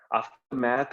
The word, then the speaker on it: aftermath: जो मैथ आफ्टर मैथ कहा जाता है वो aftermath is American and aftermath is British pronunciation.